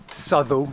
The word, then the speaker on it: Southwell: come and parked and Southern that's how you say it by the way if you see southwell the locals will not